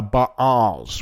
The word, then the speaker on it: Ba'al: people away from the ba'als which is and it's spelled be a apostrophe a l that's why i say ba al of the ba'als and it's it is